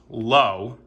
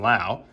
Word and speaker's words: Lowe: manning christian pasche josh lowe who's brothers of nathan lowe so it's not pronounced like brandon lau michael busch gabriel arius